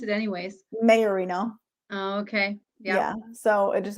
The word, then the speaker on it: Maiorino: kind of um crazy so how do you pronounce it anyways mayorino okay yeah so it just has a lot